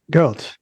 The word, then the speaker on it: Gert: Yes, Gert. Just like you pronounce girl, but with a T added on to the end of it.